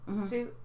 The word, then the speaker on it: Sioux: Like Sioux? It's pronounced Sioux?